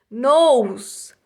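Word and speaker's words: nose: essas fica olhos tá nos novo a gente não pronuncia o e novamente quando eu já vi esse nada para vocês a regrinha né do e no final da palavra e não pronuncia então fica nos significa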